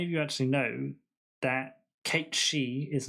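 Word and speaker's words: Cait Sith: pronounce it right because his name is an old gaelic name it's pronounced kate she that's a fact for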